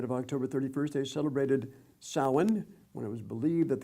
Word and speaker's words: Samhain: Samhain? Yeah, that's correct. Okay, Samhain.